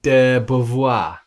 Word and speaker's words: de Beauvoir: How do you pronounce the second part? De Beauvoir.